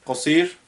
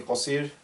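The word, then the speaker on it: قصير: word that's not there cosir because you can't say kosir that's it's a feminine thing so we're going to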